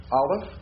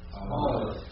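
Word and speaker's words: א: So we're going to use the modern Hebrew way of pronouncing and doing the alphabet. So the first letter is Aleph. So I'll say Aleph, and you say it after me. Aleph. Aleph.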